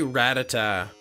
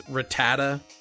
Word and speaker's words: Rattata: yeah it's completely different I say ratata I've always pronounced it ratata apparently it's Rattata is how how it's pronounced but I say ratata